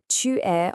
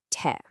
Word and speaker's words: tu es: And in spoken French, tu es almost always gets squished down into te.